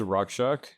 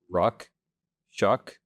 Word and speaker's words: Rakshak: So my name is Rakshak, and I know that might be different from what you're used to hearing as a name. So it's really simple. 2 syllables, Ruck, Shuck. They both rhyme.